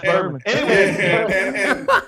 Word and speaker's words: Berman: You know, his last name rhymes with Herman. I already know. I already knew John Chris Berman.